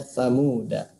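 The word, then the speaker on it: ثمودا: Nah, ini ada tulisan Samuda ya, maka dibacanya Samuda. Nah, ini secara teori yang pertama, semua tulisan Samuda da-nya dibaca pendek. Ya, jadi semua tulisan samuda da-nya dibaca pendek. Samuda ya. Jika terpaksa waqaf, da-nya dibaca sukun. Samuda.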